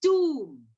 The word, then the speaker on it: tomb: T-O-M-B. No, no, Pari. This is tomb. Yes, not Tom. It's tomb.